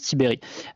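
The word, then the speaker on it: Tiberj: Blanquer et Vincent tiberie alors ça sécrit Tiberge mais ça se prononce tiberéri euh qui est donc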